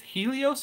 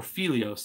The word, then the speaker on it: Phelios: There's one, and I'm not sure if it's Helios or Phelios. It starts with a P, but I tend to think the P is silent.